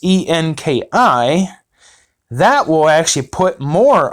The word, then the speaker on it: Enki: Then if you go and you read the book of Enki, which is pronounced Enki, that will actually put more of the pieces